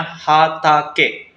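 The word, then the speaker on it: 畑: Dibacanya hatake, ladang juga.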